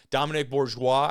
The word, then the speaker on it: Dominic Bourgeois: sharing this on Twitter Dominic Bourgeois I believe is the correct pronunciation here he knocks this